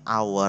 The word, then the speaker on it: hour: Karena ini cara bacanya nanti hour eh?